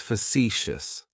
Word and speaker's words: facetious: Facetious has 3 syllables, and the stress is on that second syllable. It's like you're just saying the letter C for C. That first syllable has that schwa, that sound.